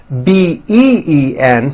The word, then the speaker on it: been: bean however this word b een spelled with a double e is announced with a low a sound been like in the word hit okay even though it's